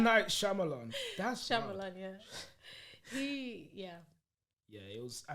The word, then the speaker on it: Shyamalan: Shyamalan. Wow. M. Night Shyamalan. That's Shyamalan, yeah.